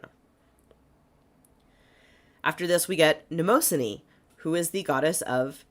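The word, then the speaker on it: Mnemosyne: the god of chest Cod chest congestion it's spelled like memine so m n m o s y n e neosan neosan such a cool name that is a good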